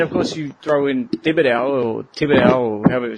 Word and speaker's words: Thibodeau: And then, of course, you throw in Thibodeau, or however you pronounce his stupid name. Thibodeau.